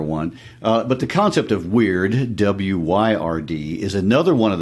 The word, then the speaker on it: Wyrd: is this Anglo-Saxon term Wyrd, W-Y-R-D. This is another one of those cultural words that's worth taking a moment to think about. It sounds like the word weird, W-E-I-R-D.